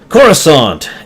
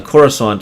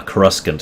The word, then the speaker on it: Coruscant: Uh, Carusant is actually how I used to pronounce it before it was finally said out loud.